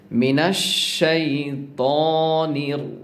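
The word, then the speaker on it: مِنَ الشَّيْطَانِ: মিনাশ, যদি আপনি মিনাস বলেন তাহলে কিন্তু হবে না। মিনাশ শাইতানির রাজিম, ত বলতে হবে। আমরা বলি শাইতা বললে মিস্টেক হবে বা ভুল হবে, তা বলা যাবে না, আপনাকে অবশ্যই ত বলতে হবে।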